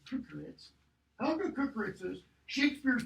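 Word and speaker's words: Kökeritz: to look at Helga Kukeritz's, that's how you pronounce that name, Kukeritz, Helga Kukeritz's Shakespeare's pronunciation.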